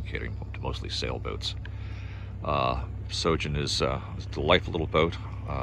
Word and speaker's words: Sjogin: do is is google sojourn s j o g i n um the j is silent like the p in swimming i couldn't resist that